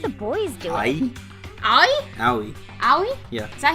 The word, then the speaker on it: Aoi: Fuck you, Ai! Just let one of the boys do it. Ai? Aoi.